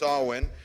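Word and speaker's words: Samhain: is also going to be leading her annual sawing celebration that's the thing in your handout it looks like it's spelled Sam Hayne but it's pronounced sawwin and this is the annual celebration of remembrance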